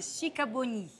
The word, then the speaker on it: Sikabonyi: Allora, no, dimmi come si pronuncia in ungherese, che mi piace. In ungherese si dice Sicaboni.